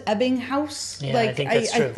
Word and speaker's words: Ebbinghaus: But now hearing how you, and I believe it's pronounced Ebbinghaus.